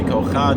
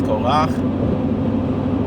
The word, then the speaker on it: Korach: say Noach, you don't say Kocha, it's Korach, right?